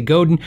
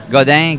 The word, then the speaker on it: Godin: is go Dan we sometimes in the USA Godin it always gets everybody riled up I did a how do you say video or I asked manufacturers to tell us how do you say it I was Mario and this is the official way you say goddang guitars I still say Godin because I guess it's a u.s. thing to say Godin so